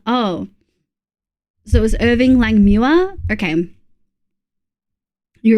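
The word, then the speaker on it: Langmuir: Mule rhymes with pure. Mua. Oh, so it was Irving Lang Muera.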